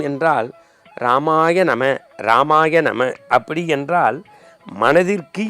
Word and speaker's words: ராமாய நம: 396வது திருநாமம் ராமா உங்களுக்கு தெரியும் அதை எப்படி உச்சரிப்போம் என்றால் ராமாய நம ராமாய நம அப்படி என்றால் மனதிற்கு இனிமை தருகின்றவன் கண்ணுக்கு